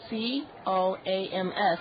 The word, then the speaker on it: COAMS: It's spelled capital C-O-A-M-S, and it's COAMS.